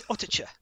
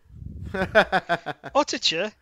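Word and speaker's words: Uttoxeter: It's Ottercher. Ottercher. Is the most fun name on there to pronounce for me, Ottercher.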